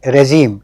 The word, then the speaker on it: regime: Dismantling and regime, ये इसका pronunciation है regime.